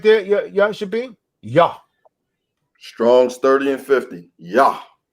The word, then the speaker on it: Yah: It says Yah. Those are the first 2 letters. It's pronounced Yah.